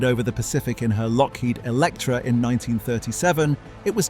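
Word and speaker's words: Loughead: Alan and Malcolm Lowhead, spelled L O U G H E A D and pronounced Lockheed, built their first sea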